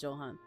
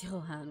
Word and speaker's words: Johan: me as oh is is that pronounced Johan I'm assuming it's not Johan let me double check Johan pronunciation okay it is for the it is the Yan but before that she